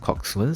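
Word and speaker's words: coxswain: So they need to form a crew where one will be the coxin and eight will be rowing. Okay. So today I realized that this uh word is pronounced coxman.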